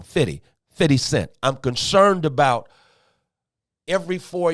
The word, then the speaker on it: 50 Cent: but I'm concerned about the 50 cents. I'm concerned about I said it wrong. 50 Cent.